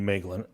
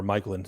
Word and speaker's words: Maeglin: her but I'm taking maeglin or Michael and see I just had him we it's been pronounced both ways in this in this podcast but Michael and um